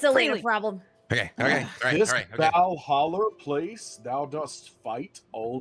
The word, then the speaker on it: Valhalla: Yeah, I understand that Asgardian sometimes can be hard to pronounce. You know, the Y can be an E, but it's Valhalla.